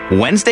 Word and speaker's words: Wednesday: what's up with Wednesday Wednesday is a bit odd just look how it's spelled what's with that D but Thursday Thursday is